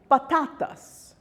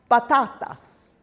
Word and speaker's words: patatas: Rule number 1, if a word ends in an N or an S or a vowel, then the penultimate syllable is stressed. That's the second last syllable in the word. For example, patatas, patatas, or cenan, cenan.